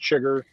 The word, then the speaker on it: Chiger: Last name's Chiger. Like I said Chiger. It's pronounced Chiger.